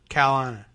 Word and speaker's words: North Carolina: That sort of Carolina. There's no R in that.